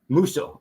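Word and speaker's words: Musso: where are we Luigi muso is that correct pronouncing how's it spelled h m SSO M like Milan yeah M muso muso okay so Luigi muso uh who who was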